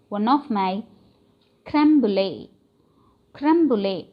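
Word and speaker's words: crème brûlée: Creme brulee pronunciation is, see here, creme brulee.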